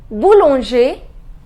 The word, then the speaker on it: boulanger: in a bakery Boulanger the pronunciation is Boulanger ending with ER bull on share Boulanger Bullinger the next